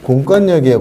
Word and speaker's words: 공권력: 그렇지만 분명히 발음은 공권력이에요. 공권력. 공권력 이렇게 되는 거 이렇게.